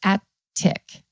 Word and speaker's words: attic: It's attic.